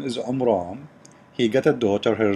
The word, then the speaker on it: Imran: who is Imran Muhammad he got the name wrong it is Imran he said Imran you know because he is an ignorant so on bran or Imran the correct name he is the father